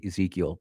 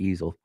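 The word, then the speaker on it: Ezell: I wanted to say Mike Ezekiel, but it's Mike Easel.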